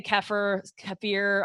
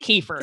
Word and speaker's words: kefir: Kefir, some say kefir. I've heard it pronounced so many different ways, but my Texas accent, I'm calling it kefir. Same. Kefir.